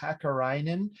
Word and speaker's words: Hackarinen: the time i'm hackarinen um all you have to do is pronounce each letter right and there's only ten of them um so not too